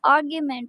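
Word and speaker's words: argument: को अप्रूवल मंजूरी आर्गुमेंट इसको मेंट नहीं आर्गुमेंट प्रोनाउंस करना है आर्गुमेंट दलील आर्गुमेंट दलील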